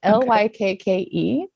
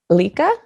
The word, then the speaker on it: Lykke: It's Lykke. And I think it's Lika. Lika. Okay.